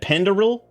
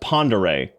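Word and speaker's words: Pend Oreille: Penderil? Penderai? Is it okay, hang on. I was trying to pronounce it before I read further. Pronounced Ponderay. That was kind of close.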